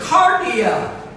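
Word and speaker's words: kardia: what is the heart the greek word is cardiac spelled with a k k-a-r-d-i-a we get our word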